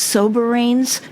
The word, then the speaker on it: Soberanes: Well, I heard Mary say that a different way to say, I always thought it was soberanes, but you pronounce it differently, Mary.